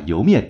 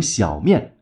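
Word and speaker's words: 莜面: 还是有人经常把油面念成小面，一个容易读错的店名非常不利于传播。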